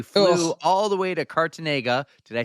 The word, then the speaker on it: Cartagena: 6 when you flew all the way to Cartagena. Did I say that right? Cartagena. How about that? I think I said it right. No. No. Cartagena. That's one of my favorite things about Eric is he mispronounces things often.